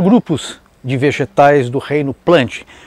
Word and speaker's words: Plantae: a transição para o reino plante ou como muitos dizem plantai mas pronuncia plante também que pode ser chamado